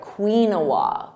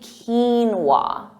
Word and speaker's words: quinoa: I've heard some funny pronunciations like quinoa, quinoa, but it's actually quinoa, quinoa.